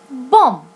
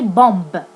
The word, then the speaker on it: bomb: by M for example bom we can't we can't say bomb we say bom the B is silent or in mid position